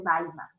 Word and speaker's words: Weimar: Que yo les dije que se escribe Weimar, pero se dice Weimar.